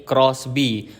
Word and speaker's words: XBEE: Ini dia mobil baru dari Suzuki yaitu Crossby dan tulisannya XB ya teman-teman. Tapi bacanya ini Crossby.